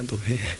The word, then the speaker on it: 노회: 교회가 창립 이래로 노회 자꾸 이걸 발음을 못 알아듣는 사람들이 노예에 왜 가입하냐고 자꾸 그렇게 물어보는데 너 예가 아니라 노회입니다 노회 그래서 이렇게 노예 개척하고